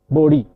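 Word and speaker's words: Bode: The last name is sometimes pronounced as B, but the Americans normally called him Bodhi.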